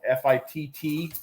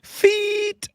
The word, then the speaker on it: FITT: One of them is called FITT Lures. Grab the wrong. No, that's I think you mispronounced that. That's feet. FITT Fit Lures. Oh no, So, no. I thought you said FIIT. No.